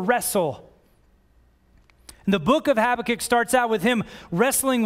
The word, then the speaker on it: Habakkuk: There's a powerful example in the book of Habakkuk of what this looks like. And I was hesitant to speak about this passage because I had trouble pronouncing Habakkuk, but I worked on it.